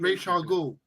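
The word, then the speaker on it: Ra's al Ghul: Clint says, "Thank you, Dev, for pronouncing Ra Al Ghul properly." So there we go. How is it? Raish Al Ghul.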